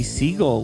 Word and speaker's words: Siegle: say hi hey now I hope I said your name right I guess could be pronounced another way so you can tell me if I'm wrong it's fine that's perfect alright do you want